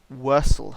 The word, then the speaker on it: Wirsel: They are Wursel herb. So it's spelt Wirsel, and there's 3 doses of Wursel herb.